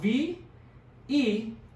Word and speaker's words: veinte: So it's spelled V-E-I-N-T-E. So it's pronounced like the word vein. You have tons of veins in your arms.